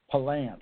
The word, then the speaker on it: Palance: It was Palance is what he would say.